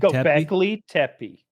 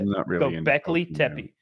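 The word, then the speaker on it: Göbekli Tepe: There's that site in Turkey whose name is very difficult to pronounce. I think it's Go Go Go Göbeklitepe. Göbeklitepe. That's it. Göbeklitepe.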